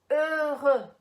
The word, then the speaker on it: heureux: Heureux.